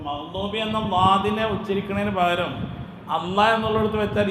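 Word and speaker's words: الله: നാവ് തട്ടുന്നുണ്ടോ ഇല്ല ഇല്ല അപ്പോൊ എന്നതുപോലെ അള്ളാ എന്ന് പറയുമ്പോൾ മുൻപല്ലിൽ നാവ് തട്ടാൻ പാടില്ല. എന്നാലാണ് അതിന്റെ ഉച്ചാരണം ശരിയാവുള്ളൂ. ഇനി അടുത്ത പ്രശ്നം എന്താന്ന് വച്ചാൽ അള്ളാ എന്നതിൽ അവസാനത്തെ അക്ഷരം ഏതാ ഹാ ആണ് ഇനി നമുക്കൊന്ന് പോസ്റ്റ്മാർട്ടം നടത്തി നോക്കുക.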